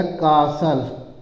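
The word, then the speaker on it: castle: ठीक है आगे देखिए सी ए एस टी एल है तो टी साइलेंट लिया जाएगा तो इसको लिखाया कासल कासल है ना सीएसी का प्रत का लिख दिया जाएगा कासल हो जाएगा है ना तो कासल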